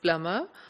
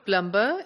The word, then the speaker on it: plumber: the correct pronunciation is Plummer but the speakers in outer and expanding circle countries go for the spelling since there's a B in the spelling they would pronounce it - so plumber' instead of Plummer similarly